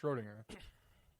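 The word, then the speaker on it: Schrödinger: and we were like, no, Schrodinger, but you don't pronounce it ding. It's just Schrodinger.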